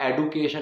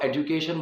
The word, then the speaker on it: education: प्रोनाउंसिएशन आती है और मैं उस चीज़ को दिखाने के लिए एडुकेट, एडुकेशन इस तरह से बोलूँ, तो वो बिल्कुल गलत है। अगर आपको बोलना है तो आप इसको एजुकेशन बोलिए, ठीक है, एजुकेशन